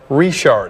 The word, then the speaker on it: Richard: seeing Richard in Louisiana it's a last name a lot of times pronounced Rashard I did bring it